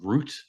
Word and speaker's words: Rutte: How do you pronounce his last name? Mark Rutte.